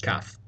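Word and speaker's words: قاف: Kaf is classically supposed to sound like a K sound, think Iraq. However, for some reason, the K sound is often replaced by just the A sound, identical to the Alif.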